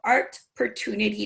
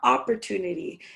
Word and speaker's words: Artportunity: So what can you tell us about Artportunity Knocks? And yes, people, it's not opportunity, it's art.